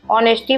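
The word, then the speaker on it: honesty: तो इसको हम ऑनेस्टी पढ़ते हैं क्योंकि एच इसमें साइलेंट है।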